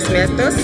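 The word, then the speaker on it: Día de Muertos: So, we brought demetos. That's how it's pronounced in Mexico and all Spanish countries.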